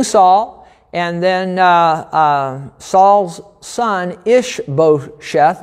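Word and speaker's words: Ish-bosheth: and then saul's son ish beau sheth i think is how you say that and then last week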